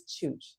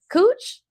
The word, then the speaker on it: Chooch: It's Chooch. Say it right. It says AJ. I know, but I'm telling you who it is. Cooch? Told you.